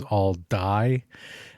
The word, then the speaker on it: Aldie: a wrong way and decided to call it all die. It is all D. So like the grocery store or at least how we say it here in central Pennsylvania.